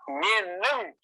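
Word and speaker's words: Менің: So, look, the word "Menin" should be pronounced like this. The last letter looks like the letter "n", but it is pronounced like this ...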